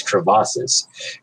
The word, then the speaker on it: crevasse: So Wait, did you just pronounce crevices crevasses? So, dude, Oh, is that what you were saying? You were saying crevices? we were saying it wrong. It's not. I thought it was crevice.